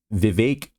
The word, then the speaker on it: Vivek: GOP candidate Vivek Ramaswamy, it rhymes with cake.